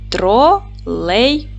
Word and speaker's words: тролейбус: в зошит Давайте перевіримо поділимо слово на склади тролейбус наголос падає на другий склад Т твердий приголосний р